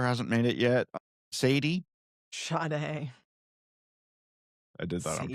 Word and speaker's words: Sade: She spells her name S-A-D-E. How is that Sade?